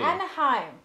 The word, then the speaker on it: Anaheim: I just assume Mickey attempted to pronounce Ahia chili. See, I got rid of more of the thing. Anaheim.